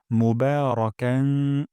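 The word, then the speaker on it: مباركا: তাইয়েবান না হয়ে যায় তাইবান তাইয়েবান তাইয়েবান তারপর মোবারকান বা এখানে এক আলিফ টেনে পড়বো মুবারাকান এবং এখানে একটু না করবো ফি এখানে তিন আলিফ টা পড়বো ফি মোবারকান ফি রব্বানা ওয়ালাকাল হামদ হামদান কাসিরান তাইবান মোবারকান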